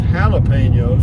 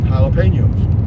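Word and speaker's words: jalapeños: the reason they're pronounced jalapenos is a J in Spanish is pronounced H so it's j e l e p a n o s jalapenos jalapenos so here we go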